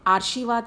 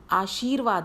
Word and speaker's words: आशीर्वाद: अधिकार तो आगे है आर्शीवाद नहीं होता आशीर्वाद होता है तो र जो आएगा व की मात्रा के साथ आएगा जहां पर बोला जा रहा है आशीर्वाद तो जिससे